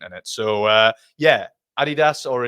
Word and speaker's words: Adidas: Wilson I mean he's already tried up he Adidas shirts from yesteryear hasn't he so yeah I